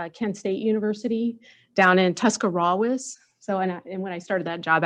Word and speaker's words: Tuscarawas: State University down in Tuscarawas. So, and when I started that job, actually, they said the R is silent, if any of you have ever been to Tuscarawas County.